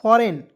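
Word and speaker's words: foreign: इसे क्या पढ़ेंगे दोस्तों फॉरेन फॉरगी नहीं पढ़ेंगे फॉरेन पढ़ा जाएगा बहुत लोग फॉरगी पढ़ लेता है बिल्कुल गलत है फॉरेन पढ़ा जाएगा एफ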